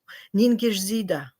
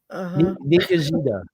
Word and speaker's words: Ningishzida: Ningishzida. You see, I'd never said it like that. It's written completely differently. Yeah. Ningishzida. Ningishzida. Ningishzida. Right, Ningishzida. It's I think that's how Sumerians would pronounce it too.